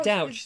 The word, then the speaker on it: Douch: Nearly said it wrong. No, it's ouch. Yeah, Douch. That's Ouch right, with a D, Douch.